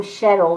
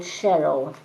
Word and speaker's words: Cheryl: But I am getting the name Cheryl. There's a lady in spirit by the name of Cheryl. And she says it's spelled C-H, she's even spelling it out. It's C-H-E-R-Y-L, Cheryl.